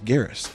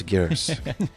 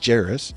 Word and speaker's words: Geris: i'm dutch as well my last name is garrus and the lady politely said no this is not the way you pronounce gares you pronounce it oh wow so this is the pronunciation that that i had never even heard of because people used to put jairus yes they'd say it was a a j it sounded like a